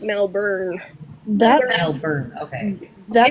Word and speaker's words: Melbourne: So I was like, Melbourne is pronounced Melbourne.